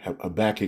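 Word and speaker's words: Habakkuk: So Habacook, the prophet here, Habach, if you want to say it that way as well, is pronounced as well.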